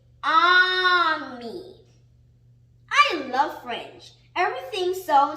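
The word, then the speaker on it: ami: say prank in french the word is army my mom says you say it like this on me i love french everything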